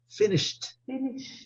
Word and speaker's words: finished: Finished.